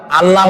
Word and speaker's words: আল্লাহ: আল্লাহর নাম আল্লাহ। বলেন তো আল্লাহ নয় কিন্তু আল্লাহ হচ্ছে অশুদ্ধ। শুদ্ধ হচ্ছে আল্লাহ। বলার সময় মুখটা গোল হয়ে যাবে। বলেন তো সবাই উচ্চারণ করেন।